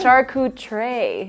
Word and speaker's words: charcuterie: found out that there's a different way to save it oh yeah it's a shark tray is the right way to say it and